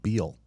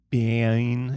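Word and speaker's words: Biehn: I was going to call him Beal. Like his name's not Jessica Biel. Bean. It's spelled weird. It's like B-E-I.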